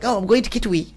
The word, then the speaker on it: Kitwe: Please don't turn it to Kitwi. I was like, oh, I'm going to Kitwe.